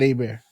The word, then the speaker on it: Herbert: Bieber Herbert Herbert Justin Herbert I'm from Louisiana uh we pronounce it a bear oh really yeah bro